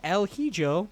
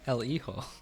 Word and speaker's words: El Hijo: El Hijo. Sure it is. There's an H in there. What are you talking about? The H is silent. The J is an H.